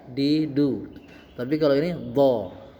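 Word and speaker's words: ظاء: Kemudian selanjutnya adalah huruf Do. Nah, d ini bentuk mulutnya sama masih seperti huruf th. Hanya menggunakan huruf z.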